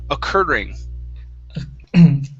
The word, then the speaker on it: occurring: the word occurring now here you're saying a curing using the cure word okay so this is only going to be an er sound occur occurring occurring good one more